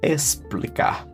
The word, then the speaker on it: explicar: Again, not the KS, not X. Explicar. S, explicar. Like there's a S here.